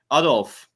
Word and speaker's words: Adolf: I'm sure you mark it weird, Adolf, but What he's is it? Uddles? Adolf. Oh, Like Adolf. Okay. So it's pronounced by you Adolf.